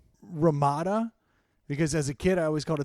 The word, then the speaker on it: Ramada: Yeah, but so as a kid I always called it Ramadan. Well, my Yeah. family always made fun of me, so they just embraced the Ramadan instead of Ramada.